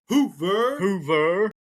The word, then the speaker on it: Hoover: Hoover. It works. It does work. And I think that that's the only reason they allowed him to come in because Hoover rhymes with Hoosier and you can do the chant.